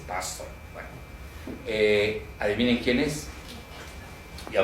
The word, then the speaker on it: Pastor: escrito por Robert Pastor, así como pastor, nada más que hay que pronunciarlo en inglés, Pastor.